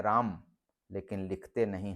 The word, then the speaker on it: राम: हैं राम लेकिन बोलते हैं अंतिम अ को उच्चारण से गायब कर देते हैं तो बोल रहे हैं राम लेकिन लिखते नहीं है राम लिखते हैं राम